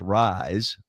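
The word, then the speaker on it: Ryze: it's amazing and it's called Ry Ze pronounced rise play on words r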